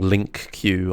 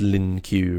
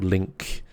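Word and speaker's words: LINQ: with this yeah I'm I'm saying it wrong link Q I know it's Lin Q right or link um so the total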